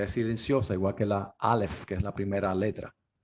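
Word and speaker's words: אלף: Aleph y parecen dos como esta letra no se pronuncia, ¿verdad? Pero se ve como un torito, ¿verdad? Pudiéramos imaginarnos un toro ahí, pero es Aleph, Aleph. Y aunque se conoce y se usa, no se pronuncia, es silenciosa.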